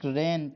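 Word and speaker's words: reign: हैं क्या हो जाएगा एक रेन माने होता है शासन करना तो यहां पे जी आपका ये साइलेंट होता है जिसको आप बढ़ते हैं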